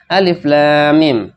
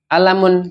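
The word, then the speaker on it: الم: penyebutan Alif Lam Mim hurufnya Alif Lam Mim dibaca Alif Lam Mim Bukan dibaca ilmun Bukan dibaca alamun Bukan dibaca ya ulumun bukan tapi Rasulullah Sallallahu Alaihi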